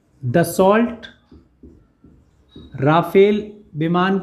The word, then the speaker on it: Rafale: word है और friends प्रोनोंसीएशन इतना अलग है कि कुछ लोग इसे राफेल कहते हैं कुछ लोग रफेल कह रहे हैं कुछ लोग रामफल कहते हैं तो भिन्न भिन्न तरीके से लोग उच्चारण कर रहे हैं हम इसे रफेल बोल रहे हैं प्लान 10 वर्ल्ड ट्रैक